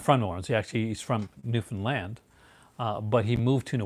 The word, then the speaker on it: Newfoundland: The only thing about Newfoundland accents is that land is always pronounced pretty hard. Newfoundland.